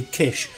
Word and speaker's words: Kiss: And Daniel Kiss did say it is actually Kish but he doesn't mind if you pronounce it differently.